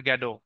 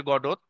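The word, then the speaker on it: Godot: drama এরপর waiting for গ্যাডো যদিও লেখা আছে গডত কিন্তু গ্যাডো উচ্চারণ হয় তোমরা গডই উচ্চারণ করবা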